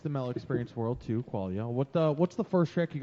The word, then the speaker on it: Qualia: Yeah, that's How do people usually pronounce it? Qualia. Qualia, Quail. Qualia. Oh, Quail? man. I've heard Qualio. Koala.